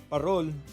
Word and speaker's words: parol: warmth then the parol parol is filipino for lantern parol pronounced with a rolling r came from the spanish word farol meaning lantern the origins